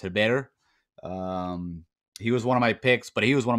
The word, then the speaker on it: Herbert: i think i kept i kept calling him uh herbert yesterday funny enough which i know better it's technically pronounced heber um he was one